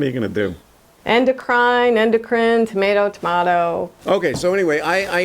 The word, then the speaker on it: endocrine: The word of the day is endocrine. It refers to the system in the human body that produces and delivers hormones. If you're in the United States, the correct pronunciation is endocrine.